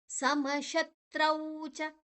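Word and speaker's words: ಸಮಶತ್ರೌ ಚ: ಸುಖ ದುಃಖೇಶು ಸಮಸಂಗ ವಿವರ್ಜಿತಹ ಸಮಶತ್ರೌಚ ಸಮ ಆದ ನಂತರ ವಿಸರ್ಗದ ಉಚ್ಚಾರಣೆ ಶ್ ಮುಂದಿನ ಅಕ್ಷರ ಶ ಇ ಇದೆ ಸು ಷ ಎಲ್ಲ ಬಂದರೆ ವಿಸರ್ಗದ ನಂತರ ಅದೇ ಅದೇ ಅಕ್ಷರದ ಅರ್ಧವನ್ನ ತಗೊಳ್ತೇವೆ ಸಮಶತ್ರೌಚ ಸಮಶತ್ರ ಶು ಮತ್ತೆ ಶ ವಿಸರ್ಗದ ಉಚ್ಚಾರಣೆ ಶು ನಂತರ ಶದ ಒಟ್ಟಿಗೆ ತ್ ಅನ್ನ ತಕೊಳ್ಳುವ ಅಲ್ಲಿ ತ್ರೌ ರೌ ರೌಕಾರವನ್ನ ತ್ ದ ಜೊತೆ ಸೇರಿಸಿದಾರೆ ತ್ರೌ ಸಮಶತ್ರೌಚ ರೌಚ ಚ ಒಂದೇ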